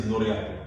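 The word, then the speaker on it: Ngoriakl: The KL together is also one of the most difficult. Yes. Yeah, it's like ankle, but just like shorter.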